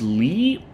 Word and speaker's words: Lee: Sonon's voice actor is Alex Lee. And I did check that it's pronounced Lee.